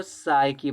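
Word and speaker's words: psyche: तो इसको देखो साइकी पड़ जाती है। साइकी में पी साइलेंट होता है।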